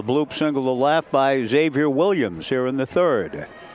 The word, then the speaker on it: Xavier: It's a Xavier Gilmore. Xavier, I believe he goes by. At least I was told by coach Williams that he doesn't pronounce the X.